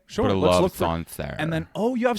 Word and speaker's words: Sancerre: Okay, next one is Sancerre. I'll say that again. Sancerre, Sancere, is Sauvignon Blanc from a specific region called Sancerre in the Loire Valley.